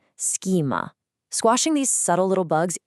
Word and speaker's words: schema: Notice the phonetics here. Transitioning from the S to the hard K sound takes some precise muscular coordination. A lot of professionals fall into the trap of using a soft sha and saying schema. Remember the hard K, schema.